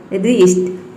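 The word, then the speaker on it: wrist: आपको समझना है कि डब्ल्यू जो है वह साइलेंट है। राइट, rap, wrapper, wrinkle, रीस्ट।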